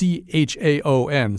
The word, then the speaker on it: Chaon: It's by a writer named Dan Chaon, I think. I don't really know how to say his name. It's Chaon, so it's like chaos but with an N at the end.